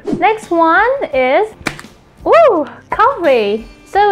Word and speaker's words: 커피: Next one is coffee. So it's coffee in Korean. Coffee. You have to pronounce F like P because we don't have F sound in Korean.